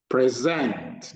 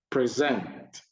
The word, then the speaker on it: present: Present, noun, stress first syllable. Present. No. Present, noun, stress is on the first syllable. Present, verb, stress is on the second syllable.